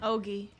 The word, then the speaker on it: Ogie: Ogie. Hoagie, like hoagie.